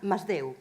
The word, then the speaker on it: Masdeu: How do you pronounce the twins' names? Masdeu? Masdeu.